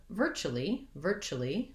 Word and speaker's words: virtually: And virtually, I go more to the chilly, virtually. 2 syllables there, but not 3 for that second part. So 3 syllables in the whole word.